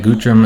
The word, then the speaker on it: Guthrum: See that Guthrum and Helga are walking, having a little conversation.